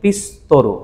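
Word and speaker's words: ピストル: আচ্ছা, তারপরে হচ্ছে শব্দটা কি, পিস্তরু, শব্দটা কি পিসুতরু, কিন্তু উচ্চারণ কি করবো আমরা, পিস্তরু, সুয়ের পরে উচ্চারণটা হবে না, পিস্তরু বা আবুনাই দেশ, পিস্তল কি খুবই ডেঞ্জারাস।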